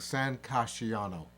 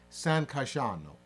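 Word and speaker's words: San Casciano: Julio I kept saying San cassiano basically pronouncing every single syllable and it's you know San Casiano is is c-a-s-c-i-a-n-o but it's really pronounced San kashano so you don't go cashiano in Italian if you get an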